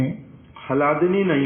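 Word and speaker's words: ह्लादिनी: होगा ला लिखते समय तो इसको उच्चारण कैसे करेंगे हला दिनी हा और ला एक साथ उच्चारित होगा हला दिनी तो सत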